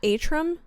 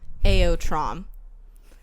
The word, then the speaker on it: Aotrom: How do you say his dragon's name? Ortome? Are you sure it's not Atrum? It was Aortom. I think I have been pronouncing it in my head Atrum. But now I'm realizing that doesn't make any sense. Airtom? Artom? Found it out, guys. Aotrom. I don't really...